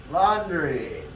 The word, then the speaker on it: laundry: There is no W. There's a U. Laundry. It's not lawn as in the lawn in your front lawn.